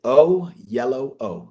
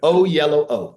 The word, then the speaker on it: Oyelowo: always tell people this, it's the last time you'll ever have to hear it and not know how to say it. It's David O Yellow O. So the colors in the middle.